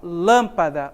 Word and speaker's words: lâmpada: exemplos lâmpada árvore exército Olha só lâmpada onde está a sílaba tônica aqui ó em lã é a sílaba mais forte lâmpada percebo que é a